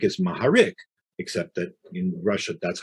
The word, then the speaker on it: Maharik: is really horowitz but they don't say g they'll say h so a person named mugarik is maharik except that in russia